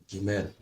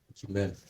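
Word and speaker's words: גימל: All right, so let's have the third letter, and that is Gimel. Gimel.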